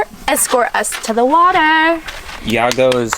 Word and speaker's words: Yago: Yago is how you would say it In English. Y-A-G-O. I'm not sure how we pronounce it in Spanish.